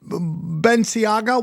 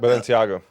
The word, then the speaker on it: Balenciaga: This is all it's like when we were talking about Beniaga. What is that? Balenciaga.